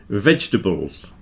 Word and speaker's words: vegetables: Vegetables. Come on, everybody knows that we don't pronounce the middle part of vegetables.